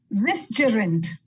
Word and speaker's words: vicegerent: Vigilant. Wisterent. I am sorry, it's Vicegerent, but it's pronounced vigilant.